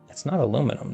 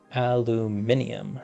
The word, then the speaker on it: aluminium: It's not aluminum though. That's spelled differently. It's not aluminum silicate, it's aluminium silicate. It's the British way of saying it, right?